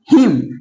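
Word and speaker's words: hymn: यानी कि यदि किसी वर्ड में एम के बाद एन आए, तो वहां पे एन का उच्चारण नहीं किया जाता है।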